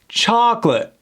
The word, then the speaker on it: chocolate: Chocolate. Very good, without that T.